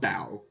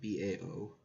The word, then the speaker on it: Bao: in front of Incredibles - he's it's called bow by the way Bao I'm not sure if I'm pronouncing that correctly in it yes it is